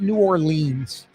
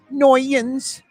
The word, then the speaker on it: New Orleans: That's how you pronounce it, New Orleans.